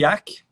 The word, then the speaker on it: Jaki: Então, o Stanley Yack é um autor, se escreve Stanley Jaki, J-A-K-I.